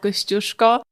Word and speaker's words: Kościuszko: So whenever family arrives, we take them over and we climb the Mount Kościuszko. And you pronounce it correctly.